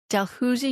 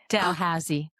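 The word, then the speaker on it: Dalhousie: your Bachelor of Arts in Political Science from Delhusi University. Am I pronouncing that right? Delhusi. No, Delhausy.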